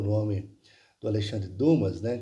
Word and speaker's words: Dumas: o nome do Alexandre Dumas, né, que se a pronúncia correta seria Dumas.